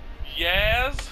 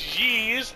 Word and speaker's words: Ys: Anyways, today we're going to play Yaz. Ease. Lacrimosa of Dana. Yes, I don't like the pronunciation of this game. So it's Yeez 8, Lacrimosa of Dana.